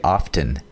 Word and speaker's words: often: Or the pronunciation of often, because people say often. And it's supposed to be often. It's kind of weird, but it'd be like fasten, hasten.